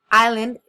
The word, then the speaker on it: island: Island we have island I learned okay so Island you should pronounce it Island lava level mantle solar system